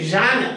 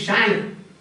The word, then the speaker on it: genre: Now, the poetic genre, for example, this confessional. So first we saw the prosodic features. Prosody. Then is genre. G-E-N-R-E. Genre. And it is pronounced like this, no? Genre. Some people say genre.